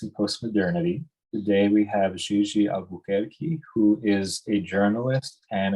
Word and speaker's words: GG Albuquerque: Today we have GG Albuquerque, who is a journalist and an academic researcher based in Recife, Brazil.